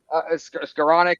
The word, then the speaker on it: Skowronek: to say his name, I think is it Skronik? Am I going to get it? Because I think Skowronek. yeah. Skowronek and Michael Pruitt and all. He You said said I can't throughout the spell it.